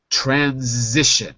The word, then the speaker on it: transition: one you all know transition notice the z sound transition now you transition